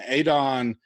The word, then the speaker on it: Adon: you personally, and Adon, and I'm saying it properly, so I know the big battle between Mayo and all. I asked him because I felt like I was saying it wrong. He goes, "It's Adon," and I said, "Thank you."